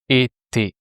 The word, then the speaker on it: étais: Here, être is not a er verb. It doesn't end with the sound et, like travailler. Here it's another ending that you have to replace by the same sound et as before, the mark of the imparfait, the ai that sounds et.